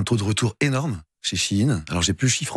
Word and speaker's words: Shein: il s'appelle chi in ça s'écrit bien chi in c'est pour ça qu'on dit ch in non pas Shine voilà donc in dedans